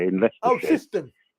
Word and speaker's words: Syston: Oh, Siston.